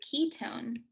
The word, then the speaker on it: ketone: when you're talking about ketones it's not k k-e-y tone it's k-e-t-o-n-e i don't really know why but there's no y in ketone even though it sounds like you're pronouncing a y ah that is the